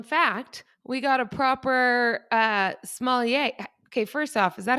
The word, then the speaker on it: sommelier: So, little known fact, we got a proper sommelier.